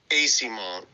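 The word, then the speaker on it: Eyssimont: you so so Kevin what's how do you pronounce it it's Mikey AC monk thank you Kevin appreciate it the the t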